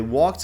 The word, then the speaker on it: walk: chains number three they walked along the shore not sh sure sure walk silent L silent L walk uh along along the